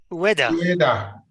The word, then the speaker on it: Ueda: Ueda. You basically pronounce all the vowels. Just think of UEFA, but with a D.